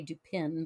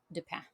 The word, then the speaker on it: Dupin: some in school but so I think it's I think it would be sort of French uh pronounced Japan d-u-p-i-n um so American audiences would would look at that and say do pin but but is uh yeah a good C Auguste de pan we're we're gonna do